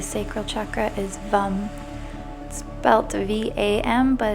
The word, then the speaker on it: Vam: chakra is bum belt vam but it's pronounced v u m purifies and connects to